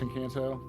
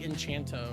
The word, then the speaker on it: Encanto: have you ever watched Encanto Oh I thought it was like enchanto or something like that oh no Encanto is how you pronounce it okay I totally thought